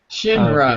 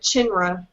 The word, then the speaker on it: Shinra: Shinra. Yeah, wow. Shinra. Shinra. Yeah, so to me What'd it you looked say? like it was China, and so I pronounced it Chinra.